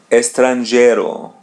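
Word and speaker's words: estrangeiro: Estranero. Let's spread this word into two parts. Estranero. Estranero. As you see there's the letter E or A in Portuguese. We pronounce it as e.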